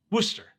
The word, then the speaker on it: Worcester: it spelled worse Esther but it's just pronounce Worcester kinda like rooster with the W said so anyway this guy